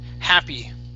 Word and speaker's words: happy: Okay, he, it's an ah sound here, what I call the American whiny A, okay? So ha, happy. Happy, happy.